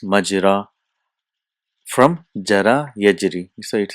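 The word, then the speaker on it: مجرى: So but it is pronounced as majra, from jara yajri.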